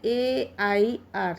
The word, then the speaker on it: heir: अच्छा, यहाँ पर एक बार देखिए, HEIR, इसका जो प्रोनाउंसिएशन है AIR सेम है ना?